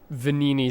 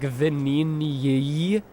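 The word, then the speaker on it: Venigni: because it's spelled like, isn't the GN in Italian like a nya? Like a nya? So it would be like Vanini, but that doesn't work in like the phonology of Indo-European languages in general usually.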